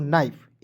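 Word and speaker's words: knife: उसके बाद देखेंगे के एन आई एफ ई तो के एन आई एफ ई को कनाइफ नहीं पढ़ेंगे इसे पढ़ेंगे दोस्तों नाइफ एन का न आई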